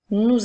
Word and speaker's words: nous: ensuite le mot soir nous avons maintenant le mot nous tu dois maintenant dire les quatre lettres du mot nous sans oublier la petite lettre muette à la fin pour terminer nous avons